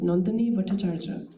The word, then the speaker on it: Nandini Bhattacharya: my former students and whose name is in Bengali is pronounced Nandini Bhattacharya.